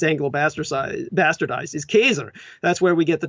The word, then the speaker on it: Caesar: direction was Julius Caesar, and the correct Latin pronunciation for Caesar, as it's Anglo-bastardized, is Kaiser.